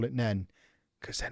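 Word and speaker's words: Nene: Nini is a good shout, but it isn't what they say. There you go. We have a winner. They pronounce it nen.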